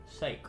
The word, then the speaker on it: sake: Saki? As well? It just says in Japan it's pronounced sake, so we're going to go with that one, because that would make the most sense, right?